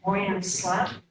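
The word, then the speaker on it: Boyan Slat: I'm probably butchered his name, but Moyen Slat.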